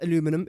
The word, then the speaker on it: aluminum: water per minute and I do pronounce it as aluminium but you might pronounce it as aluminum it's still the exact